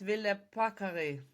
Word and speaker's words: Ville Paakkari: welcome to HANSA.newscast, Ville Paakkari. Did I pronounce it Thank correctly, by the you.